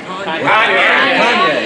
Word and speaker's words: Kanye: But there was a fellow whose name I mispronounced the next day in a conversation. I called him Kane West. I heard it's Cayenne West. Kanye.